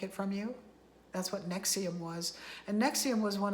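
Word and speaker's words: NXIVM: N-E-X-I-V-M, it was spelled. Nexium. The V, like the Roman carvings, they used V for a U then. So it's spelled in a Roman way.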